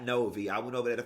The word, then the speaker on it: Novi: and y'all told me it's pronounced Novi, not Novi.